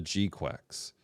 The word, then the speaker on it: GQuuuuuuX: There's a fight between Charasold in the Red Gundam and in Zeon's very own Gundam, the Gquex or Gqu is how they pronounced it in the show.